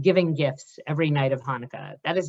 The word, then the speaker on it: Hanukkah: still be correct but i still pronounce it hanukkah ideally right correct nasal sound if you could bring it there that would be great